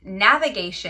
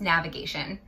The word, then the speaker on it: NVGTN: say that it is navigation and it's spelled nvgtn but it's pronounced navigation and navigation was founded